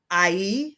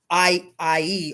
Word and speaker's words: Ihy: But the other Egyptian gods of music is Ihy, which is spelled Ihy, is the Lord of Vibration.